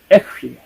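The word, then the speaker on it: אֶהְיֶה: 에흐예, 내가 있을 것이다. 이게 이제 하야라고 하는 비동사의 1인칭형입니다. 그게 1인칭은 에흐예고요. 3인칭은 이흐예. (1인칭은) 에흐예, 3인칭은 그래서 인칭에 따라서 조금씩 발음이 다릅니다.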